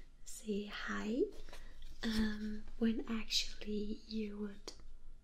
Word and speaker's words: Hej: compare det You say You say hej in English except more J sound at the end try to Hej Good